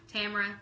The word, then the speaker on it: Tamara: I always say mine like rhymes with camera. Tamara, camera.